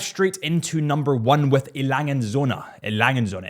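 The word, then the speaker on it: A. Lange & Söhne: Let's dive straight into number one with Lange Söhne. Lange Söhne. It honestly took me a long time to get the pronunciation of Lange Söhne right, because I was calling it Lange Söhne for the longest time.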